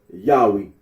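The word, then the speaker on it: Yahweh: for the name yahwe the scholarly consens that the original pronunciation of the tetragram was yahwe arino agrees that when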